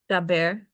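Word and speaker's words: דבר: This here does have a strong dagesh, the bet, so it needs a B sound. How is it pronounced? Daber.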